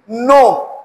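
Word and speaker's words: know: जब के और एन इकट्ठा आ जाए तो के की साउंड साइलेंट होगी। के की साउंड नहीं होगी। नो के साइलेंट होगा।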